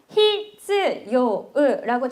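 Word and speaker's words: 必要: 필요하다라고 할 때 필요한데 여러분 히즈요라고 적혀 있고 얘를 요라고 좀 끌어 주거든요.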